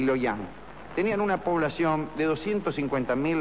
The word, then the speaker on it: Luoyang: Las dos capitales imperiales del Imperio Han, Chang'an y Luoyang, lo pronuncié mal, ¿eh? Es Chang'an y Luoyang.